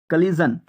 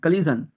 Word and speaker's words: collision: COLLISION, কলিজন। এখানে জন উচ্চারণ হবে, জন, কলিজন।